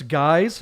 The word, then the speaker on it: GYX: That's spelled GYX Custom _ That's guys, GYX_customs on Instagram.